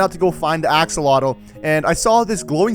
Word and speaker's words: axolotl: an axe a hatchet how do you actually pronounce this axle axolotl axolotl and on day two i also found